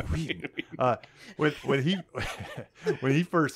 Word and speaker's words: Whedon: I'll pronounce the Whedon. H. Whedon.